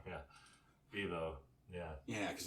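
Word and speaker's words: Vevo: yeah i think it's on youtube yeah yeah v-v-mo yeah what's that i mean that's the youtube one that's right yeah yeah i said it wrong yeah vivo yeah yeah cause like i don't know i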